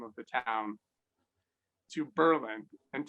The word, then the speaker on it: Berlin: of the town to berlin and take the accent off the second syllable so that no one